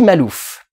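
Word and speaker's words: Maklouf: personnage qui s'appelle eddy malouf qui s'écrit avec un cas mais apparemment le cas ne se prononcent pas le truc qui me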